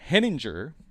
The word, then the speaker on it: Henninger: large universe and I'm here tonight with Irene heninger I get that right this time Irene you